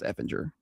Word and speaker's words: Efinger: I would think Effinger would be 2 Fs, but I thought it would be 2 Gs. So I don't know, but I'm pretty sure it's pronounced Effinger.